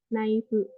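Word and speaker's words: ナイフ: dia tambahin vokal jadi nice sama aja kayak knife jadinya naifu gitu.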